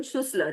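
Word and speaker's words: Schüssler: William Sussler, he's pronounced that way.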